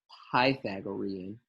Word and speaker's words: Pythagorean: with me Pythagorean theorem actually the academic scholarly guys say Pythagorean pipe like Python Pythagorean theorem alright enough